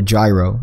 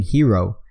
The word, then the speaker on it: gyro: without correcting me so he corrects me by saying hero you know what I